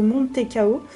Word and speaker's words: mantecao: Donc ça peut se prononcer de plusieurs façons différentes. Écoutez, je vais dire comme la boîte. Moi, j'ai pas l'habitude de dire mantecao, mais plutôt montecao. Mais il y a aussi un D parfois qui s'incruste en plein milieu.